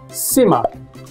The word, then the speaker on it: simmer: Simmer contains two syllables with stress on the first syllable. Listen closely. Simmer.